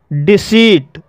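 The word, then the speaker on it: deceit: डिसीट, डिसीट शब्द में भी दो कॉन्सोनेंट के बीच ई आई आया है और यहाँ पर ई आई का उच्चारण ई हुआ है, इसलिए इसे डिसीट पढ़ा जाता है, और डिसीट मीन्स होता है धोखा देना।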